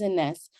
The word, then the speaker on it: Enesse: My name is Enesse. Well, my real name is, but professionally I go by Enesse. Enesse is Enesse, but it's the phonetic pronunciation of my name or my initials.